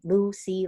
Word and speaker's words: Lusea: hesitated lucy so my my name is spelled as l-u-s-e-a lucy like the ocean lucy lou dot-com sorry got